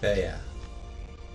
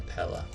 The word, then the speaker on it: Pella: The siege of Peia. Or Pella. I'm pronouncing it like a Spaniard.